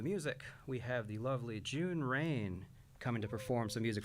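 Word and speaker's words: Jun Raine: My name is June Rain. That's spelled J U N R A I N E.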